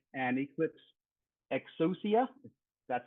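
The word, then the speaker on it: Exousia: current version is 300 and um Glassfish 8 milestone 5 and Eclipse exosia that's how you pronounce it 30 milestone 3 concurrency um provides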